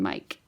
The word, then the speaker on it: mic: word pronounced kelt and Mike is the short word for microphone is pronounced mik okay so anyways you